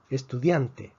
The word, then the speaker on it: estudiante: Estudiante, estudiante. Estudiante es una palabra grave. La fuerza está en la penúltima sílaba.